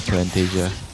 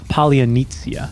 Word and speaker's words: Polynesia: Yeah, this is a very dark place right now for Plantasia. It's pronounced Polynesia. Polynesia, sorry.